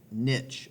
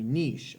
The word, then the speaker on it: niche: the first place is what is called a niche or a niche. I've heard it pronounced both ways by different professors. Niche is usually like how I like to say it.